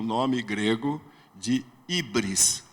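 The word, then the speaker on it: hybris: o nome grego de ibris se escreve H Y B R S ibris O que que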